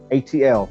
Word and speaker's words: Atl: Okay, in Anahuac, the word for water is Atl, A-T-L. It's spelled in English with A-T-L, but the sound is Atl.